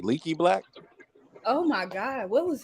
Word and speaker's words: Leaky Black: It's like Leaky Black.